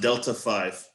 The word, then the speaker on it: D3L74F1V3: He said it's pronounced Delta 5.